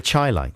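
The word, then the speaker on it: Chi-Lites: we're gonna pronounce it the chai lights the chai like highlights yeah uh this is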